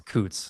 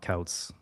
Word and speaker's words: Coutts: Yeah, no, it's Coutts, not Couts.